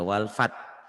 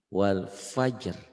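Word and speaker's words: والفجر: jadi Warkop isyaroh ya ini jangan dibaca walfat tapi walfat Wal Fajr gitu ya ternyata ada banyak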